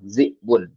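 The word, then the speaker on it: ذئب: Cara bacanya z'bun.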